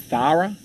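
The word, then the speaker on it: Tara: Thara? How do you spell that? T-A-R-A. But you pronounce it Thara, like the?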